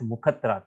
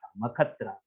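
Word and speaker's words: मखत्राता: Many people pronounce this as mukhatrata. It is not mukhatrata, makatrata. Makha means yajna.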